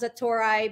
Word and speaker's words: Satori: to know so uh zetoric as actually pronounced the Tori but it's like the aha moment yeah but you know